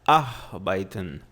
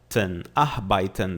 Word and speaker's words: arbeiten: Arbeiten, tá? A pronúncia no começo é um pouco difícil. Você fala arbeiten. Tá lembrando que o E e tem som de A, I.